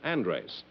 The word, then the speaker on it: Andres: the way you pronounce it? Andres, yes.